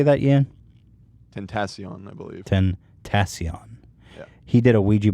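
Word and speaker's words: XXXTentacion: XXX Tenacion. How do you say that, Ian? Tentacion, I believe. Tentacion.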